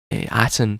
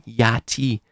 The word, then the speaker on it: Aten: It seems to go back to Aten, as the Kemetic pronunciation of Aten seems to have been Yati, which is very close again to Yahoo or Yahweh.